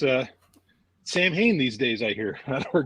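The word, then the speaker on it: Samhain: and rolling it's uh Sam Hayne these days I hear we're getting close um speaking of Sam Hayne uh so the like proper pronunciation that is actually saween and I swear to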